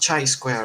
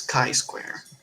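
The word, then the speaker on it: chi-square: He was like, "It's not chai square or or ki square, it's kai square."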